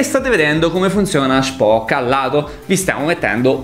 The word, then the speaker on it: Shpock: Occhio alla pronuncia, non è Spock, è Spock con la sh di sciarpa. Spock.